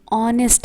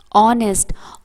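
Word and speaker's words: honest: यहां पे S silent है और ये अ का साउंड दे रहा है।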